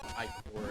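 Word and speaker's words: ichor: I was pronouncing it wrong. It's I-core, and I hate that. Yeah, I don't know why. Why is there like so much emphasis on the I?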